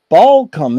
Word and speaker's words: Balcom: be here with Balcom is that the correct way to pronounce it yeah that works I mean I usually give it a pretty sharp a but uh yeah that's